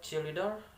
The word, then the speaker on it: cheerleader: Okay, example, that is the first cheerleader, and this from the word cheerleader, and the stress, that is cheerleader, cheerleader in the first.